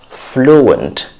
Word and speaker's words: fluent: it's not fiery fiery and then we have fluent fluent service in two syllables flow and want fluent not fluent it's